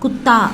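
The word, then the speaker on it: कुत्ता: குத்தா அப்படின்னு ப்ரொனவுன்ஸ் பண்ணணும்.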